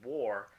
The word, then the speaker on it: war: this word that's right we have been pronouncing the a in war as an O War so that in itself is kind of mind-blowing because nobody ever pays attention to this everyone speaks the language day in day out no one pays attention to this but we've been pronouncing war with the letter O not with the letter A and it's not impaired